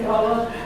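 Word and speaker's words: Gullah: I have a question about the reference to, you pronounce it Gula, and that's probably correct. Probably. In the South, we say Gula.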